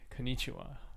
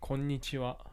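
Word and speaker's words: こんにちは: people know that and aussie people normally say konichiwa konichiwa but it's actually pronounced konnichiwa and that's good morning in english and you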